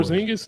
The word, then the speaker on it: Porzingis: Their core- Porzingis not going to be a bench player. Well, no, Porzingis. I know. Did I say it right? Porzingis.